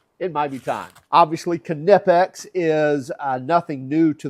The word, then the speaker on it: Knipex: And by the way, yes, it is spelled or it is pronounced Kipex. If you talk to them, they'll tell you that it's not Nipex. Um, it is Kipex.